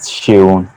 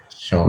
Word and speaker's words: Seun: Let's start from the pronunciation of my name. Uh, It's pronounced Seun. So the full Sean. pronunciation, yes, Sean, is awesome.